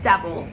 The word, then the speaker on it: devil: devil is pronounced as devil and it is written as D E V I L, what I want you to do is pronounce the first part normally, de, and then vil, right?